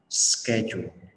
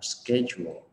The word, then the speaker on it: schedule: Cái kiểu anh Mỹ thì mình sẽ đọc là schedule, schedule. Đó, thì mình nhớ một trong hai cái cách đọc này để mà mình làm cho nó chuẩn.